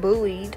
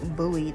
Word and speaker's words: buoyed: a fool but but bullied sorry y'all I know how to pronounce this word buoyed it's b-u-o-y-e-d that's how you pronounce it but I want to